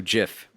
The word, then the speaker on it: GIF: And I pronounce it GIF because it has a fucking G in it, to quote Eddie.